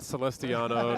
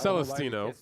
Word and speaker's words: Celestino: with the name quite often and hysterically butchered by Joey Ingram. Not Celestiano. Not Celest Celestatino. Trophy sick or something or it's right there. It's right behind Baja. Ariel Baja. Celest Celest Celestino.